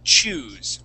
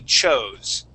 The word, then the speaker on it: chose: Okay, now this word here, you had pronounced the word choose. Okay, this word is actually chose.